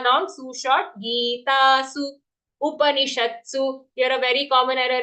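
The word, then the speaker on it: उपनिषत्सु: But here when reciting, we have to be accurate and say full pa Upanishatsu. Not Shastu, Sha followed by half the Shat and then Su. Upanishatsu Brahma Vidyayam.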